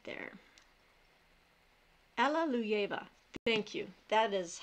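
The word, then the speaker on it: Alliluyeva: let me try that again Alleluia you try pronouncing that right there Alleluia ver thank you that is how it is pronounced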